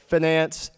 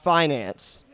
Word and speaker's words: finance: me that and the occasional reminder that it's pronounced Finance not Finance though each of you get to go on